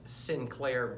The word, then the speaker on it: St. Clair: contribute to this storyline his name is Sinclair Byfield and although it sounds like Sinclair it's spelled esti CLA I R and you would think that st. Clair but for some reason it's been advised that he is named Sinclair and I play the